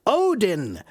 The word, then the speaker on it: Odin: Odin. Odin is how we say it now.